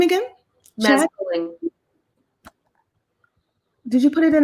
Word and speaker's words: Mads Tolling: So she's talking about Mads Tolling.